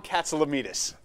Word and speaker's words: Katsilometes: Let's see, I've mispronounced his name twice already, if I can get it right. Katsilometes. You got it. Did I get it? You nailed it.